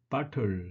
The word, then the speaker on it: butter: 그래서 butter 이렇게 발음을 하는데 butter 이렇게 butter 이렇게 발음하다 보면 벌어가 자연스럽게 진화가 되죠. 버러로. 예, 이렇게 자연스럽게 진화되는 겁니다.